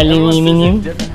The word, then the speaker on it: aluminium: You say aluminium? How would you say it? Aluminum? Aluminum. Is it? Aluminium? That's how they say it over in the UK.